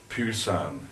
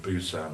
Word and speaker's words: Busan: Colombo Singapore Hong Kong Pusan it was spelled with a P there but they call it Busan with a B now well I got off